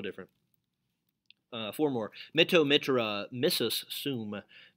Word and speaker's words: missus: Mitto mitra, missus sum. Missus, as in like Mrs. Potato Head, but it's spelled differently.